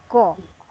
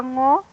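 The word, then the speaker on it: Ngô: They can't pronounce the ngo. no. So yes, it was it ngo. Yes, Veronica Ngo. Yeah, yes, they can't pronounce it. So when I was watching YouTube video about this actress, because I don't know her, so they calling her as Go. yeah, Veronica Go.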